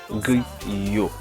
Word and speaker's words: griot: Griot. Okay, griot. Plis. Look, plis. This is not coleslaw. That's plis. Haitian plis. I have a little spicy. I mean, I don't like spicy, so plis. Griot, plis, banane pesé.